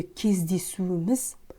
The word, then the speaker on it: кездесуіміз: В слове «кездесуіміз» в этом предложении произносится как «кездесуіміз». «Ана жолғы кездесуіміз». Почему? Потому что звук «к» следует после гласного звука.